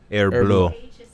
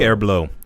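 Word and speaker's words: Herbulot: do you pronounce h-e-r-b-u-l-o-t it's like the watch a Hublot Hublot Hublot Hublot h-e-r-b-u-l-o-t h-e-r-b -u-l-o-t air blue yeah oh so it's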